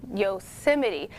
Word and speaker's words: Yosemite: back in august and multiple sources list its pronunciation as yosemite so if you didn't know well now you